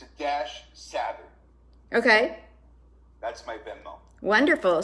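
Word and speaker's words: Savitt: 2 T's for Savit. The first T is silent.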